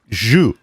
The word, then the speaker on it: jus: Yeah, I didn't say Jew. I said jus.